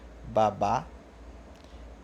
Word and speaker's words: babá: no dia a dia por exemplo babá babá sem fazer muito esforço já dá para ver que a segunda sílaba é mais alta que a primeira tá eu uso separar